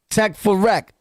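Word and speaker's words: Tek4Rek: It's spelled T-E-K, the number 4, R-E-K. Tech for Rec.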